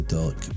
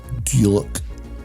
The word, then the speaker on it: Dullock: Here we're following the signs to Dullock Park, or Dullock, as I've been told. I've been pronouncing it wrong.